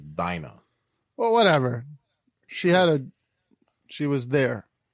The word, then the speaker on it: Dinah: That's how you say it in Romanian, but it's Dinah.